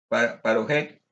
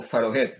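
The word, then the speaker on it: פרוכת: hebreo parojet o paroje, dependiendo del que tiene dagesh, un puntico dentro de la consonante, se pronuncia parojet o farojet, dependiendo del puntico.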